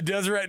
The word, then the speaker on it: Deseret: I was like, you've arrived when the T is silent on the Deseret News.